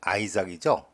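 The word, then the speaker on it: Isaac: 자손인 메시아 예수의 족보다 2절 아브라함은 이삭 영어 발음은 아이삭 이삭의 아버지였고 그다음에는 동사가 다 생략이 됐습니다 이삭은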